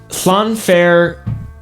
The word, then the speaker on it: Llanfair: The L's are like in your cheeks. Flan. So like flan fair, puff, pulse.